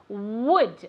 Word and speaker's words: would: Okay, now be careful, very good, but be careful with the pronunciation of would, okay? We need to say that w sound, okay? It shouldn't ever be a G sound like good or never a V sound either, would, okay?